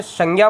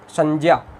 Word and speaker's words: संज्ञा: संज्ञा, वैसे बोलने में से संज्ञा बोलते हैं प्रचलित रूप में, मगर इसका उच्चारण संज्ञा होता है। हमने देखा था वर्ण विचार में ये जो ज है ये स्वर रहित ज और पंचम वर्ण इ से इसका निर्माण होता है।